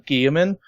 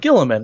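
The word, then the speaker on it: Guilliman: It was she mispronounced his name because it's actually Gilliman, but she was like Gilliman, and I was like, "Wait a minute, what?"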